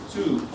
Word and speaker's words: Tsu: Well, the glory of God come down in that big auditorium up there in Tsu, TSU. Tsu, they pronounce it Tsu, right? Tsu, TSU, Tsu, Japan.